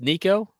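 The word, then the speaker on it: Nicko: Is it It's Nico. All right. This is hilarious. I just decided to look up how do you pronounce mcb brain?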